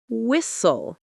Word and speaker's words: whistle: You don't pronounce the T at all, it disappears. Common examples: listen to listen, often to often, castle to castle, whistle to whistle, fasten to fasten, Christmas to Christmas. Sentences to repeat. I listen to music every morning. We visit my family every Christmas. The castle was built hundreds of years ago. A useful rule: silent T often appears after S or before L.